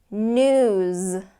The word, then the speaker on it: news: place okay plays plays News News again if you don't get that Z sound it's going to sound